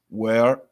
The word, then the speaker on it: where: Where? Olha aqui um som aberto. Where? Fechado agora. Were.